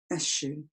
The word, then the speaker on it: eschew: What other ideas I tried to frame, or I kept being distracted back to that lovely, archaic, strange-looking verb, eschew, or eschew as other people pronounce it.